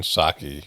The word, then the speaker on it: Psaki: have to Wait, I forgot how bad Jen Psaki sucks. My wife was we were walking around. She goes, "You know, it's Jen Psaki, right?"